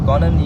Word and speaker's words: Conan: And So Conan, your name is very difficult to pronounce. Just I want to Yeah. know what is the actual pronunciation of your name. it's Conan. Conan. Conan. Conan.